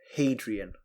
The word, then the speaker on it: Hadrian: Point of order, Hadrian. Hadrian. Okay, I wondered whether you'd know how to pronounce that correctly.